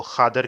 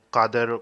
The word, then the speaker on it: قادر: ساتھ ہی لکھنا چاہیے، لیکن چونکہ وہ حیدرآبادی ہے تو حیدرآبادی لہجہ میں وہ خادر کہتے ہیں، وہ قادر قاف کو صحیح طرح نہیں پروناؤنس کرتے ہیں۔ تو یہ اس کا